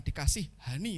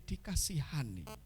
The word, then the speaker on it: dikasihani: yo yakin dikasih Hani Bacanya jangan dipisah ya bukan dikasih Hani tapi dikasihani ayat 27 kemudian dalam tahun